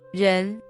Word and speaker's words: 人: This character is the second tone, so it should be